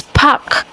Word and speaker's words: park: But the pronunciation in English, the R again is silent. I believe that the R in English is silent, so it's park, park.